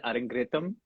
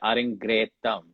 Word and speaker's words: Arangetram: I was because I always end up pronouncing it as Aringritam, and I think Yeah. it's the ending of it, Arangetram, right?